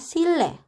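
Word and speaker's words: 실내: Kemudian yang ketiga ada silne. Di sini bacim real bertemu dengan huruf nien, jadinya si niennya berubah menjadi huruf real. Jadinya bacanya adalah sile.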